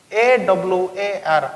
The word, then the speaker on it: hour: Here the word hour begins with English consonant H. For the pronunciation will be like this. AWAR, hour. Here A is the vowel.